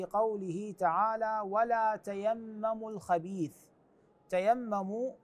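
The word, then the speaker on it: تَيَمَّمُوا: تعالى ولا تيمموا الخبيث تيمموا هكذا تقرا بعضهم يشتبه مع كلمه تيمم يعني عفوا تتيمم باضافه تاء اخرى وهذا مو صحيح تيمم يختلف معناها عن تتيمم تتيمم تتيمم هنان تيمموا اي لا تقصد الرديئ من المال ايضا في الايه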